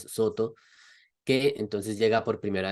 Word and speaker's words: Soto: Fru Jing era precisamente la escuela Soto, pronunciado de japonés Soto, que entonces llega por